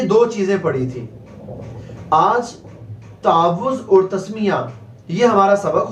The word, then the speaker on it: تعوذ: پڑھ رہے ہیں تعوذ۔ اس کو بہت سے لوگ تعوذ پڑھ دیتے ہیں، تعوذ نہیں پڑھنا، تعوذ۔ واو کے اوپر جو تشدید ہے اس تشدید کی آپ نے ادائیگی کرنی ہے، تلفظ درست ادا کرنا ہے، تعوذ۔ حمزہ کے اوپر